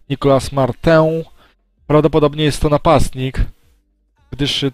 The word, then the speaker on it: Nicolas Martin: O, Nicolas Martin, bo to Francuz, tak się powinno jego nazwisko wymawiać. Nicolas Martin, prawdopodobnie jest to napastnik, gdyż swoje...